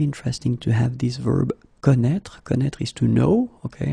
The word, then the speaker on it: connaît: Je connais, tu connais, il connaît, elle connaît. And keep in mind that it's a strange thing, I know, but you should put here this accent circumflexe. You don't pronounce it, I know that, but